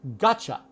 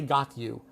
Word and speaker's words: gotcha: But with gotcha, you must reduced you to ya. and gota when there's a t and a y together when you say it quickly. Gota gotcha. Gotcha. So we oftenimes you'll even spell it like this. G o t c h a. Gotcha. Now so you must reduce it. You can't say got you.